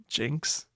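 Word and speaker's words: Jynx: And the pronunciation for Jinx is J I C Ks. So, it's just Jinx.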